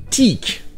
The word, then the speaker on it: critique: Ici, c'est la deuxième syllabe qui est accentuée. Teak. Et ça, ce que ça va faire, c'est que le son de voyelle est maintenant un son long.